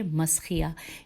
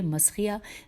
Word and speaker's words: مسخیہ: رے یہ ہے اور زیر ہے، اور منسیہ ہے میم نون سین یہ ہے، اور اس کے بعد ہے ریح مسخیہ میم سین خے یہ ہے.